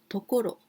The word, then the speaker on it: 所: this the second 漢字 This one we pronounce ところ the place So I can ask like this 京都はどんなところですか？京都はどんなところですか？